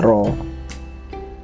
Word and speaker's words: rho: Supermen rank adalah ee rho ya jadi simbol ee seperti P kecil gitu ya tapi dibacanya rho nah ini Rumus 7.10